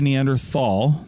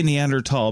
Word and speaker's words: Neanderthal: lot of people say Neanderthal yes which is common even amongst researchers and and and the like we say neander tall because that's actually how it's pronounced tall th all I